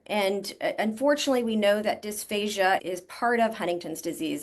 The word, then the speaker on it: dysphagia: And then what we hear all the time, dysphagia.